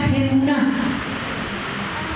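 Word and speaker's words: אמונה: Nos enseña que hay una fe que es esta a la que hemos sido llamados, que en hebreo se pronuncia Gemuná.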